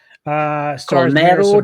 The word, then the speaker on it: Guillermo: I can never pronounce his first name. My fault, G. Guillermo del Toro.